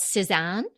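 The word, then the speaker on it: Sézane: unfortunate but um it's it called San but not spelled like the painter It's s e z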